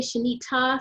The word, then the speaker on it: Shanita: I say Shanita, so my name is Shanita, like ta-da, Shanita, and I'll